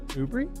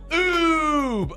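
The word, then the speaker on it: Oubre: have to know this ubery oh my god oh where are you people from Aubry it's Ube he said ubery it's oob o u b r e how do you not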